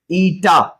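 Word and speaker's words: eta: ये है प्रोनाउंसिएशन, ईटा।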